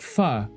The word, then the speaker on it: pho: It's pronounced like pho.